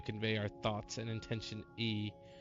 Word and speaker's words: Ea: When the vibration of vocal folds was still required to convey our thoughts and intention, E, I believe, was the pronunciation used when referring to our people.